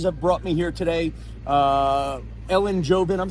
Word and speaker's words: Ellen Jovin: Ellen Jovin, I'm saying it right?